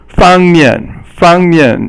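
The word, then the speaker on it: 方面: 方面 means fang is the first tone and mian is the fourth tone, and 方面 means an aspect.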